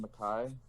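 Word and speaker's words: Mekhi: How do you pronounce Becton's first name? Mackay?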